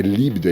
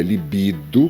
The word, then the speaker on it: libido: A palavra não é líbido, é libido, que se refere ao sexo.